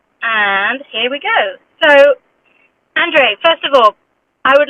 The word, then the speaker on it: Andres: your name inc correctly is it andre andre or andres or andre polish style um is that correct yeah yeah andres andres is fine yes andre okay andre